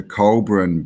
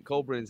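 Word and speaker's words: Coelbren: Colburn's named after, it's spelt differently, but Colburn, spelt like Col, C-O-E-L-B-R-E-N, is the like the ancient language of the British.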